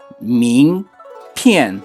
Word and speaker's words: 名片: 名片 The correct pronunciation is 名片 Next, he wants to ask someone to wait a moment.